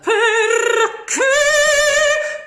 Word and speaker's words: perché: Perché. So it has to be really strong. Use those consonants as well. Perché. Perché. As if they were almost split. Perché with a strong K.